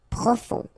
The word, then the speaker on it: profond: Final D not pronounced. O-N-on. Profond.